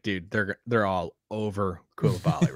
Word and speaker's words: Coulibaly: Number 12, give me the guy whose name we finally learned how to pronounce, Bilal Coulibaly.